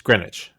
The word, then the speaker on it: Greenwich: It's spelled Greenwich. It's Greenwich.